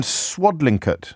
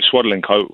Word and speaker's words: Swadlincote: Will's in Swadlincote. Did I pronounce that correctly? Yeah, you did, James, yeah. No, I obviously didn't. I thought, well, Swadlincote.